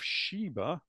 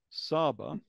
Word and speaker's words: Sheba: So when we come across the Queen of Sheba, Saba, because it can be pronounced both ways, the Queen of Sheba is the Queen of the Stars.